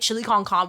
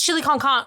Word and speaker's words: chili con carne: It's chili con carne. Well, chili con carne, chili con carne. Like it's there's an E at the end. I thought the E was like not to be pronounced.